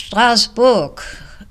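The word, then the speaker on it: Strasbourg: in the city of Strasburg now it's stasbor pronounced and written French and unfortunately I was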